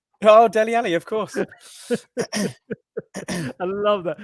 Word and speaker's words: Dele Alli: Rhymes with Melly Nally. Oh, Dele Alli, of course.